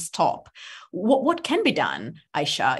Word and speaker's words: Aisha: most important to you Isha Aisha sorry I keep on mispronouncing your name Aisha there is a big